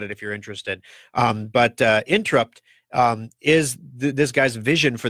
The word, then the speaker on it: Intrupt: And his startup company named Interrupt, and of course it's spelled in that wonderful internet way, INTRUPT, Interrupt.